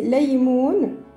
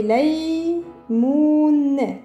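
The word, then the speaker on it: ليمون: Alors, lam au début, comme tout à l'heure, on va faire la. Ya. Lay. Ça, c'est mou, mais nous, on veut mou. Alors, j'ajoute un waw. Et là, c'est noun. J'attache les lettres. Ça fait laymoun.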